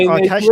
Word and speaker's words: آتش: The formal pronunciation is atash, but like when we're just speaking colloquially, just informally, we say atish. So it's atish.